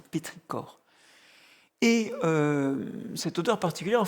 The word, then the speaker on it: pétrichor: Ça s'écrit pétrichor mais ça se dit pétricor.